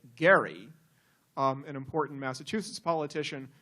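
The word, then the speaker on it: Gerry: and in particular partisan Jerry mandering which and Jerry mandering apparently is a mispronunciation because of course it is named after Elbridge as he would say Gary um an important Massachusetts politician who was involved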